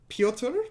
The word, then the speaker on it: Pyotr: Pyotr, I believe it's just Pyotr. It's a Russian name, no last name given.